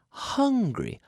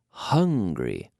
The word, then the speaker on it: hungry: You have to pronounce that H. Pronunciation. What? Yeah, I think that's a good idea as well. Pronunciation. Absolutely. Pronunciation. Let's talk about it. The H. Hungry. Hungry. Hungry. Yeah. So the H is not the same as the Spanish J, like Michael J.